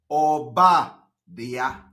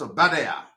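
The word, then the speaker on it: Obadiah: from the book of OBA DIA that is the name for those who are pronouncing this no it's not a bad air it is called obadia am I communicating from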